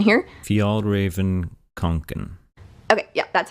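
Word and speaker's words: Fjällräven Kånken: I'm not bilingual, so I don't know how to pronounce that, so I'll insert correct pronunciation here. Fjallraven-Kanken.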